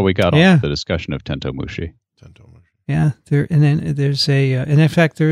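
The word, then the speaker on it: てんとう虫: had to read it hitoshi writes the correct pronunciation for tentomushi is tento mushi not tentu mushi he has tento or 10-2 it's not 10-2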